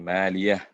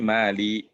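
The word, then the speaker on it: مَالِيَه: Jadi tambahkan hak, ma'aghna 'anni maliyah. Jadi ini karena kalau nggak ditambahin hak kan nanti bacanya ma'aghna 'anni mali. Beda kan jadi nggak ada haknya.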